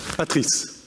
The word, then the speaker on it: Patrice: Is that the right pronunciation? Schneider? Patrice. But that's okay. So it was correct. It's the same thing.